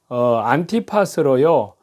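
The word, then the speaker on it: Ἀντιπᾶς: 때문에요 후임으로 세운 사육자입니다이 안디바를 원문 발음으로 읽으면요 안티팟으로요 안티는 반대한다 파스는 동질화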